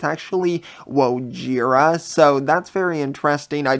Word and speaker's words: Wojira: they actually do mention Wohira, and I've been pronouncing it as Wohira like with an H, but it's actually Wojira, so that's very interesting.